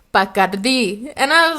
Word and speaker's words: Bacardi: And then they go, so, I know you've been pronouncing it Bacardi, but it's Bacardi.